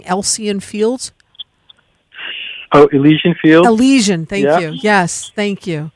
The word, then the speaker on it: Elysian: Now also, and I might be mispronouncing Elysian Fields. Oh, Elysian Fields? Elysian, thank you.